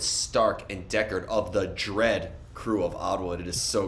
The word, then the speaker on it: Dread Crew: messaging uh me letting me know that it's pronounced dread crew it's not like I reached out to do this interview in the email and wrote in the subject dead crew there's no way that that happened shout out